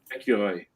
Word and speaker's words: Écureuil: And what's the correct way to pronounce squirrel in French, Ian? Écureuil.